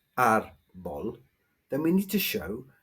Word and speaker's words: árbol: N or S, but the stress on this word is not on the last syllable, it's on the first one, so we need the accent to show that.